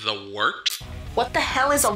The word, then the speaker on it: Wort: It is The Wort. Not wart, not fort, not short. The Wort.